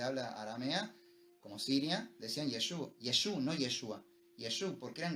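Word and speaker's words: ישוע: Cuando estaban en Israel o en países de habla aramea, como Siria, decían Yeshua, no Yeshua. Yeshua, porque eran galileos. En Galileo la Ain del final no se pronuncia.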